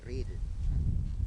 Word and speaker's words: Rieder: O sea, en alemán se dice Riedel, pero se escribe Riedel.